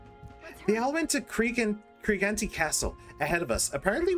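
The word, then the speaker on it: Creante: big elf guy, uh he did pronounce the E at the end. I would have said Creant Castle, but he pronounces the E, so I will too.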